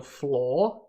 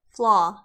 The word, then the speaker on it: flaw: ways to mitigate the floor in the current combat system the stats how do you say this word sorry flaw sorry not floor oh law and this